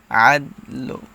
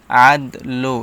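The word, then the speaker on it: عدل: বলা যাবে না যেমন আদলো এরকম ভাবে বলা যাবে না হালকা উচ্চারণ হবে আদল আদল একদম হালকা সিম্পল উচ্চারণটা হবে আদল ওয়া হু ওয়া আ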